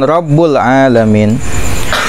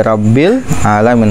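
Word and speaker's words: رَبِّ الْعَالَمِينَ: Lalu contoh bacaan kesalahan Fatihah yang tidak merubah makna, contohnya misalkan Rabbul Alamin atau Rabbal Alamin, haruskan Alhamdulillahi Rabbil Alamin, harusnya Rabbi dibaca kasroh, dia membacanya dhommah Rabbul atau dibaca fathah Rabbal, itu lahnun tapi tidak merubah makna, bacaannya sah.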